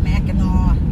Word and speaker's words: Mackinac: fudge yeah they specialize in fudge mackinac fudge mackinaw mackinac is spelled mac and i so so it's just